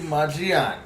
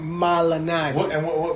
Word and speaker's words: Malignaggi: Paulie Maggiani. Paulie Malignaggi. Okay. How do you say his name? Malignaggi. What did I say? Maggiani, like Maggianos, bro.